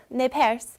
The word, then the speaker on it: Nez Perce: But today, they're known as the Nez Perce, and it's Nez Perce or Nez Perce, which is the very French pronunciation of it, which means pierced nose.